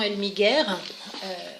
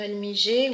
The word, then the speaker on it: Elmiger: Alors, il nous parle évidemment du docteur Jean Elmiger, suisse, donc je le prononce comme on le dirait en Suisse. En français, on dirait le docteur Elmiger ou Elmiger. Rosine Champdebois, pour en finir